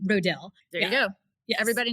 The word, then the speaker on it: Rodil: say my name because nobody knew how to pronounce my last name. How do we say your last name? Rodil.